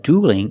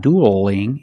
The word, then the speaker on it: dueling: Now the L in dueling is between vowels, so we have to change that L to a light L. So it's not dueling, it's dueling. Dueling.